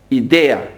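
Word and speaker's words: ιδέα: You have in Greek the word idea, idea, it's pronounced in Greek.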